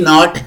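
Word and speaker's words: knot: ओ टी नॉट नाही के एन ओ टी नॉट गाठ एन आय जी एस T night रात्र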